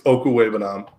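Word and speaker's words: Okwuegbunam: Oh, it's Okuwebanam.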